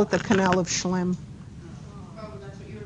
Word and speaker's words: Schlemm: Yeah, but they don't call it the canal of Schlemm. Oh, that's what you were looking for. No. How do you spell it? S-H-C-L-E-M. Schlemm.